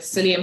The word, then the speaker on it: psyllium: for the p yeah it's a silent p you know i learn something new every day like psychology yeah like psychology you see now when